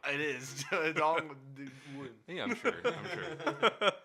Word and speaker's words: Dong Nguyen: Dong Win. Dong Win. Yeah. Okay, I guess Downwind? NG together is a W. It is Dong Win.